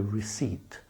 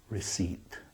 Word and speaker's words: receipt: life difficult for you they slip in a p that you don't pronounce receipt again EI because it's